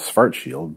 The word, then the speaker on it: Schwarzschild: It's true that the Germanic pronunciation is Schwarzschild, but this is an English video, so I've anglicized the names for an English-speaking audience.